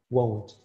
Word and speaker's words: won't: could also be rendered with won't mind my pronunciation won't not one one i want to eat some